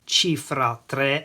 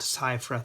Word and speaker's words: Cifra: famous designer clock is called a chifra not Cyra 3 by the brand Solari